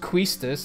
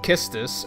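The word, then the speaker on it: Quistis: and then Scarlett told me that it's not pronounced quistus it's pronounced kistus and I was like you're blowing my [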